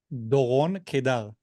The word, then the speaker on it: Doron Keidar: So is it Doron Keidar? Doron Keidar. So try to roll your R's more like Spanish.